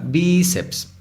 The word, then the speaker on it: bíceps: idioma español por ejemplo bíceps los bíceps es una palabra bíceps la sílaba tónica es vi eso la convierte en una palabra grave termina en ese la